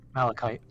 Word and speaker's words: malachite: I believe I'm pronouncing that. Malachite.